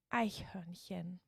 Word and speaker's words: Eichhörnchen: today we are going to learn how to pronounce the beautiful german word for squirrel which is ichon hen so visakhmandas das aihon hen okay so let's break up the word a